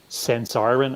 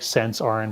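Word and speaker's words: Sensirion: um there's a company called sensarin and i hope i'm pronouncing that right it's like sense iron but it's sense iron or something swiss company i think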